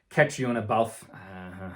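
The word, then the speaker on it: Caitríona Balfe: Aunjanue Ellis, Kristen Dunst, Catriona Balfe, that's how you say her name, Ariana DeBose, and Ruth Negga for passing.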